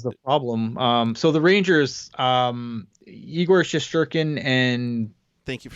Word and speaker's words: Igor Shesterkin: So the Rangers, Igor Shesterkin and thank you for saying it right.